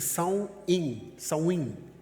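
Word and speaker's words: Samhain: Eh, a raiz dela é um festival pagão celta chamado Samhaim, que pronuncia-se, Saim é a pronúncia dele, que é celebrado há mais de 2000 anos nas ilhas britânicas.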